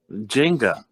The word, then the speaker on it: Jenga: Jenga.